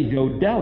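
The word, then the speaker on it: יוד: It's simply yodel. And it's pronounced yod. So the vowel of the vav or the o sound is inferred.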